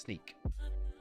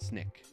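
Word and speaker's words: Snyk: a uh TTS spot it's uh pronounced sneak although I've heard other people in videos that worked here from years ago called it Snick so I don't know who who deemed it to be pronounced that way but uh I gotta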